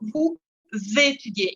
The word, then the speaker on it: vous étudiez: Acá de nuevo hago la liaison entre el sujeto y el verbo porque tiene consonante vocal. Entonces digo, vous étudiez. Y es como si fuera una Z. Quel jour vous étudiez? Ye. Cuando tengo I e Z, el sonido final es ye.